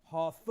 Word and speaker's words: Hathor: stop PR it so this was the God hathor all right hathor was the Egyptian goddess of